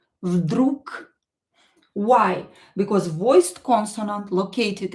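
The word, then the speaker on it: вдруг: You can hear that I pronounce this g as k. Vdrug. Vdrug.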